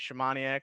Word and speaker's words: Szymaniak: in the army and my last name is shamanic which is polish and going through school sports and all that nobody could just pronounce shamanic it just it's hard